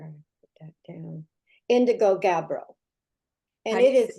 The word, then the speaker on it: Gabbro: And its technical name is, let's see where I put that down, Indigo Gabbro.